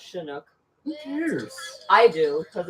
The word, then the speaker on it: Chinook: That's first of all, it's pronounced Chinook.